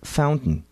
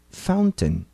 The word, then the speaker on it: fountain: Fountain. No inglês do dia a dia, a pronunciamos como fountain. A pronúncia desse T de forma tão diferente do que estamos acostumados se chama glottal stop.